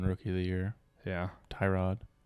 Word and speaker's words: Tyrod: of the year yeah tyrod tarad i'm sorry tarad get it right don't be an um say it right yeah andrew luck in